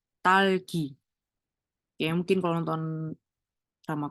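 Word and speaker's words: 딸기: Ini kan double D, jadi bacanya T. T, A, terus ada tambahan L, berarti bacanya tal. Terus ini G, ini I. Talgi.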